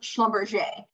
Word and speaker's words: Schlumberger: that like genuinely like schlumberjay it's pretty it's like spell schmumm burger and it's pronounced Schlumberger right so it like isn't always phonetically said either so if you are